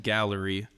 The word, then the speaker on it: Galler-E: about the last project Gallery yeah do you say do you say it with a syllable do you say like Galler I just pronounce a gallery that's that's how I